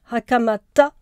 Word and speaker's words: Hakamata: petit frère et bien je préfère euh quand je je j'y prête attention dire hakamata parce que elle elle-même prononce son nom ainsi voilà je vous remercie